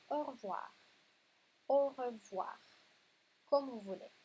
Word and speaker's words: au revoir: Après, c'est au revoir, comme on le dit normalement, ou au revoir. Oui, normalement, c'est très très vite. On ne le prononce pas juste avec chaque lettre, c'est au revoir.